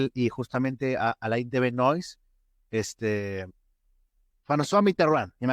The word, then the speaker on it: Alain de Benoist: En francés es Alain de Benoist. Me he esforzado para pronunciarlo en francés.